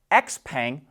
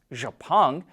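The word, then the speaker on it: Xpeng: to make a profit xpang which we believe is more correctly pronounced japan reports it delivered over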